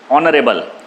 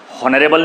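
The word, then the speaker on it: honorable: ऑनरेबल, हॉनरेबल नहीं बोलते आप, ऑनरेबल बोलते हैं।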